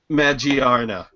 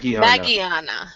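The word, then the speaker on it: Magearna: let's discuss let's discuss magiana or mag magana magana is announced in English M actually yeah it's um it's pretty much going to be pronounced the same way in both English and Japanese so magiana has been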